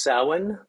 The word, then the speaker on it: Samhain: grove with her samhain benediction is pronounced samhain sorry but you can't count on any pronunciation to look like it's it uh like english uh from gaelic so felicity take it